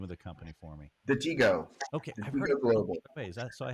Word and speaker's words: Detego: uh so I'll let you you pronounce it pronounce the name of the company for me the Tigo okay is that so I have been doing